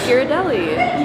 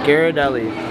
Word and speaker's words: Ghirardelli: but now we're in some how do you pronounce this place Ghirardelli yeah yeah what she said uh Ghirardelli gotta get some ice cream yeah I'm debating